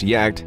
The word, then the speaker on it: Jagd: their name the name yak terrier is a perfect fit for the breed this is because the word pronounced yet spelled as j-a-g-d literally translates to hunt in german this refers to the